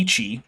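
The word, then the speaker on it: Yi qi: Chinese uh clear P actually it would be Ichi because the Y followed by an i and pinion actually ends up saying e but whatever everyone says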